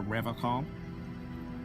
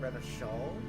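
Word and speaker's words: Revachol: to stay strong for rev call Rev call not rev Shaw he pronounces revov with a hard K unlike other people so Revol as in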